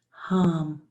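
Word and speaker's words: ham: breath on the inhale the mantra is hum H am but pronounced hum on the exhale the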